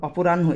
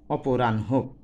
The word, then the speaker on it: অপরাহ্ন: আরেকটা বিষয় খেয়াল করো, অপরাহ্ন, এখানে একটা উচ্চারণের ব্যাপার আছে। অ পয়কারে পো, রয়াকারে রা, দন্তন্য হস, তারপরে হো, অপরাহ্ন।